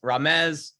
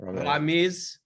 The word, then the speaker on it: Ramez: It's Ramez, not Ramiz, just so everybody knows, because that's what I've been calling him for the last 20 minutes.